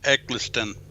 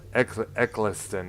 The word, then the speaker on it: Eccleston: ninth doctor yeah christopher i think it's eggleston ecclestone okay there we go i don't know